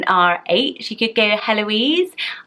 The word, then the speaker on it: Heloise: she could get a Heloise I know the H is silent it's a friend should